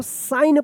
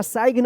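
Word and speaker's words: sign: तो क्या होगा कि ये जी जो है ना साइलेंट रहेगा। क्या पढ़ेंगे इसको? साइन पढ़ेंगे इसको। सिग्न या साइग्न मत पढ़िएगा।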